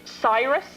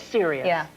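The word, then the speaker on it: Sirius: so you know and it's Cyrus black or serious it is serious serious black I love the twist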